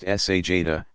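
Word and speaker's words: sajdah: stretching forward toward prostration sajna pronounced sa Jada to place hands flat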